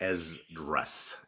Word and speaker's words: Esdras: The book we're going to be reading today is First Ezras, and it's spelled E S D R A S.